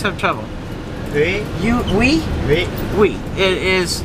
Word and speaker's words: Hue: Tim I always have trouble you we we we it is spelled hu e and it's pronounced we uh